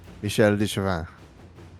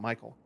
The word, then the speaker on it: Michel: definitely not Michael and it's not the it's Michelle yeah there's no a in that so it's definitely not Michael um I'm just going